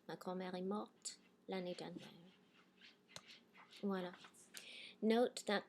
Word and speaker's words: morte: So past participle, if you have a final T, it's silent. And now all of a sudden I'm going to pronounce it because now I have an E after my T, right?